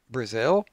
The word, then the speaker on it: Brazil: example of this name Brazil which we pronounce with the stress on the second syllable now what happens if